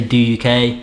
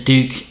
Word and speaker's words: Douk: do you say it there's duke a lot of people say do uk understandable but it's duke yeah the reason it's duke is it's david ambler uk david david lomble's the